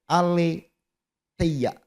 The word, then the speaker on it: aletheia: Dari bahasa aslinya, dari kata Yunani, aletheia. Nah, begitu bacanya ya.